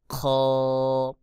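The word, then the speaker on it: خ: হলকের শেষ হতে অর্থাৎ কণ্ঠনালীর শেষ ভাগ হইতে খ উচ্চারণ হবে। যেমন খ, খ, খ।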